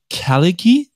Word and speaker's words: Khalighy: And today I am super excited because I'm here with Sebastian Khalighy. Did I pronounce that correctly?